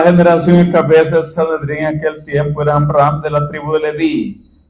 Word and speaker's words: Amram: en hebreo eh eh dividimos en dos sílabas amram amram am es pueblo y la raíz de